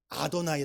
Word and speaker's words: 아도나이: 네가 왜 읽으려고 하느냐요 단어는 뭐라고 읽어야 된다 아도나이 아고 바꿔서 읽어야 되는 거예요 하나님의 이름이 거룩하기